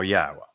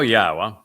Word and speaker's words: Yahowah: W again uh and the W is pronounced as an o sound as it is in Torah as it is in shalom and since the Torah